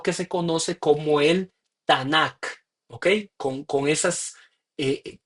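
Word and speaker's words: Tanakh: k en mayúscula eh se le ponen las a en medio de esas mayúsculas solo para pronunciar para tener Cómo pronunciar para no decir t n K Entonces le ponen las a para decir tanac y el tanac en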